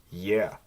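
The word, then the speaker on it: е: Next is yeah. And this looks like an E, but it has the yeah sound to it.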